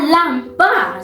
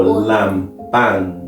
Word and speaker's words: lampan: With the N at the last part. Sätt på lampan. Yes. Okay, all right. Lampan. Lampan. All right. Like a pan.